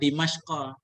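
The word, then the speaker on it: دمشق: Kalau bahasa kita Damsyik, kalau dalam kitab Dimashqa. Damsyik itu udah kita terjemahkan Ustaz. Kayak Misra, Mesir kan kita bacanya.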